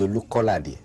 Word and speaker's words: Olukolade: My name is Olukolade.